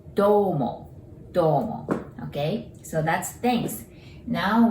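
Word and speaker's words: どうも: There's OU there, just like arigato, OU. So we pronounce it domo, okay?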